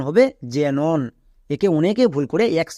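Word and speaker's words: xenon: এক্স শব্দের শুরুতে আছে শব্দের শুরুতে থাকলে কি হয় বর্গীয় যে উচ্চারণ হয় তাই এটা উচ্চারণ হবে জেনন একে অনেকে ভুল করে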